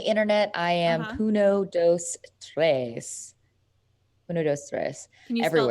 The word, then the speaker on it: Puno dos Tres: Puno dos Tres. Puno dos Tres. Can you spell that Everywhere.